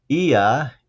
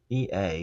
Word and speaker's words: Ea: So, Ea, E-A is how his name is spelled.